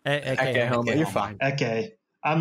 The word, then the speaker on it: Ecce Homo: So if you go through the old notes of the early psychoanalytic meetings, that you read, I always mispronounce it, Esse Homo. Is that how you say it? Ecce Homo.